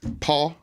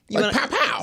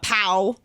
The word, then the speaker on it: Pau: Is that how you say it? Paul. I always say Paul. Powell. Pow. You want to call him Paul? Yeah, Paul.